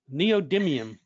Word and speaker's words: neodymium: name of the magnets i always have difficulty pronouncing this neodymium magnets that's right how's that jim neodymium thanks for telling us that but anyway yeah